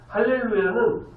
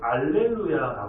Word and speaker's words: 할렐루야: 자연스럽게 아멘 또 나와요 할렐루야는 알렐루야 그니까 히읗이 아닌 이영 발음으로 알렐루야 하기도 하고요 여호와를 찬양하라라는 뜻입니다 하나님을